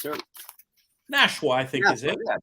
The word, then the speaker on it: Nashwa: How do we pronounce her? Nashwa, I think, is it? Yeah, Nashwa.